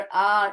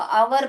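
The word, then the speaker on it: hour: घंटा वाला आवर, आर, उसको आवर बहुत लोग प्रोनाउंस करते हैं जो कि गलत है, उसको आर प्रोनाउंस करना चाहिए। ये भी आर ही होता है। यहाँ पे जो हैच है वो साइलेंट है। आर, हवर नहीं बोलना चाहिए, आर।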